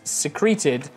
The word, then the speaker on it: secrete: donated Department the participants the participial you wanted to use is secreted from the verb to secret stressed on the first syllable sir treated different from the precipitous secrete stressing on its blah blah blah both written